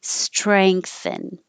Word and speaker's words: strengthen: Strengthen with the ang, with the back of the tongue going up. Strength, strengthen. And this is the in the front of the mouth, strengthen.